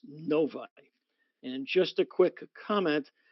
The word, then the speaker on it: Novi: the convention itself is going to be in Novi Michigan which is a suburb in the northwest corner of the Metropolitan Detroit area uh and yes it is pronounced Novi and just a quick comment for the folks